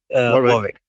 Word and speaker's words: Warwick: And that was at the University of, I'm going to say, how do you say Warwick. Warwick.